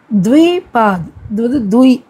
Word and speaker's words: द्विपाद: इन जीवों को द्विपाद, द्वीன்னு ப்ரொனவுன்ஸ் பண்ணணும், द्विपादனா 2 கால்கள், द्विपाद कहते हैं.